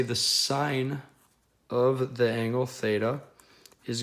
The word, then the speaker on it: sine: The first one is going to be called the sine function. Usually you will see this abbreviated as SIN. That is still pronounced sine. It is not pronounced sin.